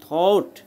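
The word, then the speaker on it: thought: মতো হচ্ছে, ঠিক আছে, আর জি এইচ এটা উচ্চারিত হইতেছে না, আর টি টি এর উচ্চারণ ট এর মতো হয়, তাহলে থট থট, ঠিক আছে।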